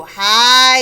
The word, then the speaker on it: high: they flew and flew high and low flue ew says ooh hi the gh is silent but the ice is